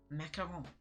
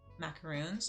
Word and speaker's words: macaron: Macaron. Yes, that one. Which a lot of people in English mispronounce it, call them macaroons, but they're not. They're called macaron.